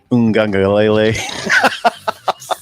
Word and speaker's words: Uiagalelei: Uiagalelei. Well, I don't know. Did you pronounce it right?